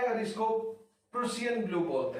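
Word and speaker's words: Prussian blue: इसको टर्नबुल्स ब्लू बोलते हैं और इसको प्रूसियन ब्लू बोलते हैं। ठीक है, टर्नबुल्स ब्लू, इसको प्रूसियन ब्लू, सब कुछ लोग पर्शियन ब्लू भी बोल देते हैं। प्रूसियन ब्लू is right way to pronounce in fact.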